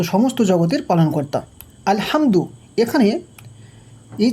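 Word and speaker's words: الحمد: আসেনি মিমও আসেনি তো এখানে মিম সাকিন গুন্না হবে না একদম স্যাম্পল ভাবে পড়তে হবে আলহামদু আলহামদু এখানে যে হা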